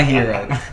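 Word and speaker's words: Herro: But it rhymes with zero. It's Tyler Hero.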